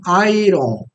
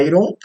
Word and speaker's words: iron: a maioria das pessoas pronunciam Airon Airon certo essa não é uma pronúncia inteligível o nativo do inglês não entenderia o que que é Iron tá a pronúncia inteligível a pronúncia adequada a pronúncia correta é ir ir tá Inclusive para quem